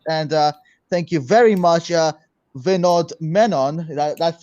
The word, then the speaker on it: Vinodh Menon: Thank you all so much for listening to this amazing podcast, and thank you very much, Vinodh Menon.